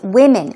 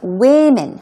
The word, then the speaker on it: women: has noticed a lot of women okay now pronunciation is very important w m n is a plural form of woman right it's women women women so a lot of women feel that their